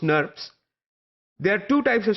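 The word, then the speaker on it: snRNPs: ribonucleoprotein particles that are abbreviated as SN R and PS or pronounced nerves there are two types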